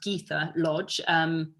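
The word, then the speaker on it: Gytha Lodge: her the other day and she's actually it's pronounced geetha lodge she writes police procedurals um she's written three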